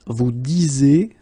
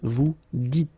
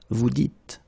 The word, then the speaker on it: vous dites: So it's not vous disez, okay, as many would think, but then it's vous dites, okay, final S not pronounced, vous dites.